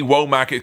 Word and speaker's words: Womack: You gotta have two syllables, don't you?